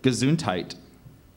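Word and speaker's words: gesundheit: who has just sneezed are there any other pronunciations just gazuntite gazuntite g e s u n d h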